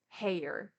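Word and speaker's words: Haigha: in parenthesis it says he pronounced it so as to rhyme with mayor hair heya ha it's it's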